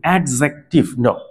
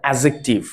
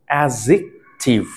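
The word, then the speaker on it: adjective: আলোচনা করছি এডজেক্টিভ interesting হচ্ছে এখানে অনেকে আমরা উচ্চারণ করে থাকি এডজেক্টিভ এটা একদম রং উচ্চারণ এটা হচ্ছে এডজেক্টিভ এডজেক্টিভ এডজেক্টিভ এটার বাংলা অর্থ হচ্ছে বিশেষণ আপনারা হয়তো ভাবছেন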